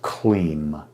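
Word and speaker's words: Kleem: a heart mantra the mantra is clean k-l-e-e-m and when you say the mantra let the vibration of this sanskrit word move through you feel it as i say it right now clean colleen colleen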